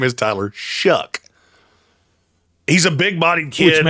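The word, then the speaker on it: Shough: it would be Tyler Shuck. And yes, his last nine rhymes with duck, not shelf. The next person I hear calling Tyler Sha. I'm going to lose my mind. Shuff.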